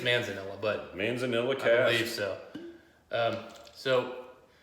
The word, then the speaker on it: Manzanilla: gonna prod butcher here Manzanillo cast which is a type of sherry we have been trying to figure out exactly how to say this correctly in mono and I think it's Manzanilla but Manzanilla care yourself